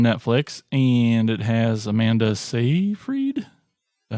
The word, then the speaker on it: Seyfried: It was on Netflix, and it has Amanda Seyfried. Is that how you say it? Yeah. Seyfried.